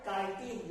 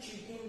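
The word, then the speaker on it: chitin: Next, cell wall made up of tough and complex sugar called काइटिन या फिर चीटिन भी ऐसा प्रोनाउंस करते हैं, चीटिन या फिर काइटिन, ये 2 प्रोनाउंसिएशन उसका रहता है।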